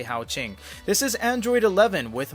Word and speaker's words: Haoqing: the pronunciation that is going to be the most internationally accepted way to say hao ching this is android 11